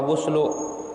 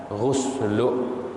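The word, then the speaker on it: غُسْلُ: Jumat, mandi hari raya, maka dibacanya ghuslu apa guslu? Kata ulama, fal afsahu ad-dhammu, yang fasih, yang bagus itu dibacanya adalah ghuslu.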